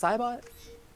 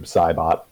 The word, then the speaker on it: Saibot: of noob sabot where Saibot how is that pronounced Saibot Noob Saibot Saibot okay slow unpleasant feeling was tingling at